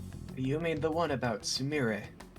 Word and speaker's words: Sumire: Was it Sumire or Samir? Definitely Sumire. Okay, I'll say Sumire. I don't know my sister very well, apparently. But yes. Let's keep pushing. I'm gonna purposely pronounce it wrong.